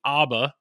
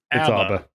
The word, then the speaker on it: ABBA: We got multiple emails that apparently we've all been saying it wrong. I kept saying ABBA last. It's ABBA. Like ABBA. Abacus.